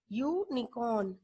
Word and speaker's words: unicorn: Because while we are speaking this word, while we are pronouncing this word, unicorn. So sound is coming of a consonant. Which consonant? Y, not of U, which is it is a vowel. Sound is coming of consonant Y.